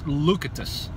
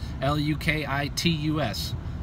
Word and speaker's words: Lukitus: But this new version is it's a Finnish word for locked. It's Lukitus. I don't know if I'm saying it right. I don't know. L-U-K-I-T-U-S. Lukitus, something like that, means locked.